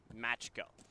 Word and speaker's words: Makos: we both apologize because we are so used to seeing the same spelling but pronounced instead matcho.